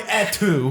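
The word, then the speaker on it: Et tu: It's definitely etu. It's definitely etu brute.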